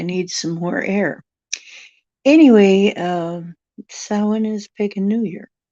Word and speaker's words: Samhain: Oh, well, technically, it's Samhain. Samhain. Okay, it's spelled like Sam Hain, but it isn't some guy. It's Samhain. And it's Samhain all the way until tomorrow night.